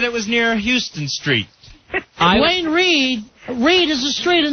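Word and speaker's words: Duane Reade: Al Dukes goes around calling it Dwayne Reedy. I bring Al. And the staff of ours, no one will correct him, and they all snicker behind his back. I heard it when I first got here as Dwayne Reedy.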